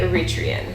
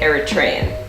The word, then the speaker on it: Eritrean: Like I say Eritrean. Eritrean. Some people say Eritrean. Okay. I feel like it's kind of whatever. I don't know if one is right or wrong. They're probably both right, just how you say it.